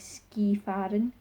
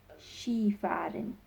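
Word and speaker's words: Skifahren: those felt as ski so it looks like ski Fadden but the pronunciation is she fighting she farted another common hobby is listening to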